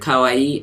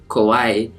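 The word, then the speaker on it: かわいい: cute is kawaii and sometimes people even like make a mistake with the word kawaii and say Kauai and kawaii means something else it means scary so to say that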